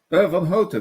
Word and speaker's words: Vanhoutte: How do you pronounce that last name? Vanhoutte, but you did pretty well. I mean, Vanhoutte. the most Right. English pronunciation is Vanhoutte, which is nice. Vanhoutte. I like Vanhoutte.